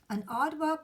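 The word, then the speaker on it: aardvark: neither this one is an odd walk for pronounce it white an odd work looks somewhat like a pig with the long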